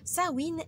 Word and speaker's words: Samhain: d'après les anciennes Croy sawin est un mot gaili qui se prononce donc sa win qui signifie fin de l'été ou feu de paix